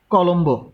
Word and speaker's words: কলম্বো: যেমন আমরা যদি লিখি যে কলম্বো, সেই ক্ষেত্রে ব ফলার উচ্চারণটা হবে ক লোম ব, এটার উচ্চারণ হবে এরকম কলম ব।